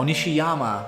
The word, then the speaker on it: Nishiyama: Oh, Nishiyama. I've been saying his name wrong this whole time.